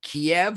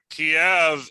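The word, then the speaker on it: Kyiv: it's a dog whistle kiev is the russian pronunciation of their capital allegedly and keeve is the ukraine way to say it but i've heard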